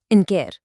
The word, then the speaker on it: ընկեր: In Armenian, that's ընկեր, and it's pronounced ընկեր.